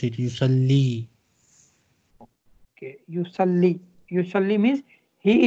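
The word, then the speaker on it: يصلي: Yusalli. This time ya has two dots, so we need to pronounce it.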